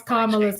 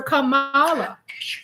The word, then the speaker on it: Kamala: give a damn about he doesn't want to pronounce kamala's name correctly he calls her Kamala and it's Kamala he doesn't care you